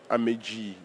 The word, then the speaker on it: Amegee: Je suis Améji, comme on prononce au Togo.